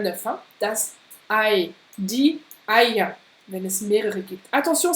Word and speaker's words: Eier: On n'a pas trop parlé encore de la prononciation du ER à la fin d'un mot, mais ça se prononce presque comme un A. Die Eier.